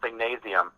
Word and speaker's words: Singnasium: I started a nonprofit music school called Singnasium. Singnasium. Can you spell that? Yep, Singnasium, like gymnasium, but Singnasium.